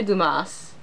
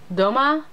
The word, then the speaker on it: Dumas: Monte Christo by Alexandre Dumas Doma he's French the S might not be pronounced for the fantasy genre